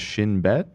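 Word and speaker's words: Shin Bet: wrong but uh okay this is pronounced shinb so it's basically like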